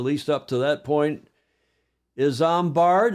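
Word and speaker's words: Isambard: up to that point is zard is how you pronounce that Kingdom Brunell what a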